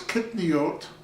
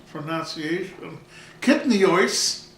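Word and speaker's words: kitniyot: So if a peanut is kitniot, or I should use the Ashkenazic pronunciation, kitnios, why isn't a potato kitnios?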